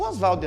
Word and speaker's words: Oswald: do oswald de andrade defendendo a sua pronúncia mais abrasileirada do nome dele o osvaldo andrade vai trabalhar então com